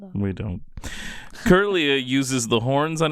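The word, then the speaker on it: Kirlia: We always read it wrong. Curillia is what we always want to say, but it's Curia.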